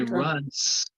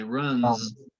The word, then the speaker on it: runs: However, with number 8, you don't say runs, you say runs, the Z sound. It has that voiced S sound. So if you put your hand to your throat, you can feel it vibrate with this S, runs.